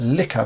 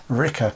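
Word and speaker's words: Licca: there you can see that's the name of liquor but they sort of pronounce it Ricker dolls and these are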